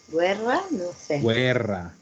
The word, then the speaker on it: guerra: que pasaba por ejemplo cómo se pronuncia en italiano guerra y guerra en italiano guerra no entonces acuérdense que la g y lage y en italiano se pronuncian todas las vocales uy uy y no